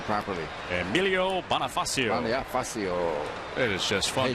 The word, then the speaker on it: Bonifacio: about the Marlins and the Nationals, that Emilio Bonifacio extended his hitting streak to 26 games today. 1-2 slider outside, 2-2. I think you should get a bonus for pronouncing his name properly. Emilio Bonifacio.